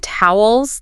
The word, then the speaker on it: towel: It's got that alilio sound like in cow or how toe. And then the ending is a dark L sound like. So toe towel.